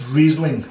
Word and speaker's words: Riesling: It's Riesling, okay, to pronounce it properly, apparently.